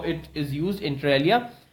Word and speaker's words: inter alia: is an adverb and the pronunciation is inter alia it's alia okay inter alia okay the